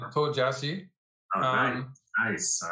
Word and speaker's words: Tuo Jiaxi: I'm going to let you pronounce our player's name today. I think I mangled it when I was... Okay, it's Tuo Jiaxi.